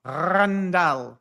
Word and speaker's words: Randal: You got to roll the R. Randall.